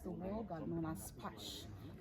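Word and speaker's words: Pax: That's the word God known as pash. P A X. The X is always pronounced as sh.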